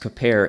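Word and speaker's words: כפר: So this is Baruch Levine's commentary on Leviticus, and he cites the same word that's used, which is kaper, is the Hebrew KPR root, pronounced kaper, and the same word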